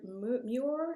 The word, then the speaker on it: Muir: Muir, is that how you say it? Moore, Yeah, yeah.